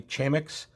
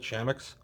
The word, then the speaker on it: Chamax: And I realize you could say Chamax, Chamax. You could pronounce it a bunch of different ways. We've always called it Chamax.